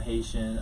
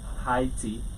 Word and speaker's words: Haiti: I'm Haitian. I'm from Haiti. Right. Different people pronounce it differently. Really? Some people say Haiti, some people say Haiti, some people say Haiti.